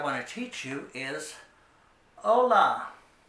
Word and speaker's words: hola: to teach you is hola the H is silent so you're pronouncing it as if it was spelled o-l-a hola it means hello it's